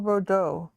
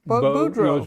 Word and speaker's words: Boudreau: Bordeaux. No, it's Boudreau.